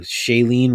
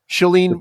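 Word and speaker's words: Shailene: and I' I've sorry if I pronounced this name wrong, Shayene Woodley. Shelene Yeah, Shelene Woodley.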